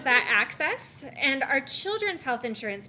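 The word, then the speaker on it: AHCCCS: called the arizona everyone's healthy system um we pronounce that access and our children's health insurance program is a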